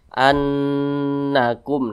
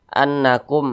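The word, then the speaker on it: أَنَّكُمْ: ini adalah ghunah musyaddadah maka cara bacanya itu diunahkan jadi suaranya itu itu kita tahan kita panjangkan sejenak annakum Nah kita panjangkan seperti itu Nah jangan seperti ini annakum nah tidak digunahkan maka itu kurang tepat tapi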